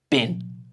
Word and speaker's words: been: 'Been' is not pronounced as 'been' most of the time, it's pronounced /bɪn/.